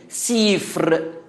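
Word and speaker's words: סֵפֶר: أنا بفكركم كلمة سفر ملهاش غير مرجع واحد في العبرية، سيفر بتتنطق كده، معناها كتاب مفتوح أو كتاب صغير أو درج ملفوف.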